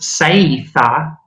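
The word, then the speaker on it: saetha: And this is pronounced Seitha and translates as seed, S-E-E-D.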